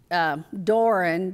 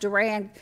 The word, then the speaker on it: Duran: His name is William Duran. Some of the family members say it's Doran, but I've always heard it pronounced Duran.